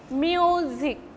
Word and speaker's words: music: Music, two syllabic words. The first syllable will be stressed and the second syllable will be unstressed. Music.